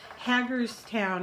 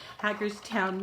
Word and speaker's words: Hagerstown: Felicia is from Maryland Hagerstown I think I think that's the way it's pronounced hackers town Maryland and Amy is from